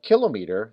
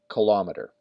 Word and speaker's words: kilometer: The problem is when we get to this one, km, apparently instead of saying kilometer, they say kilometer.